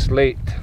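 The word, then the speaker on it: Sleat: to slate dispel sweetness L EA T but the pronunciation is slate I believe but I don't think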